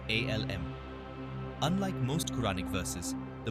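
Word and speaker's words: الم: For instance, alif, lam, mim is pronounced as separate letters, alm.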